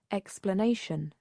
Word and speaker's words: explanation: explanation explanation explanation explanation the correct answer is the stret uh is on the on the on the third uh syllable explanation notice that the stress in uh is in a different position position from the verb from explain explanation design design design the